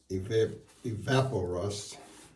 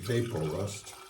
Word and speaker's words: Evapo-Rust: this jar and pour Evapo-Rust in there. I always want to call it Evapo-Rust, but I think the correct pronunciation is Evapo-Rust, as in evaporation.